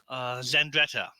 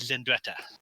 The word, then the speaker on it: Zandreta: in the city of Zen Greta I pronounce the member from the Indiana Jones movie Alexandra yeah the first part of that so the city's called is in Greta is a city that